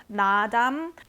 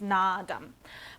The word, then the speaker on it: Naadam: I've been wanting to get something from this brand, Nadam. I hope I'm pronouncing that right as well, but there's 2 A's before the D, so I think it's Nadam.